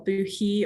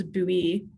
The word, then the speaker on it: buoy: once and for all boo he or bowie to pronounce buoy i believe it's bowie it's not bad yeah so now you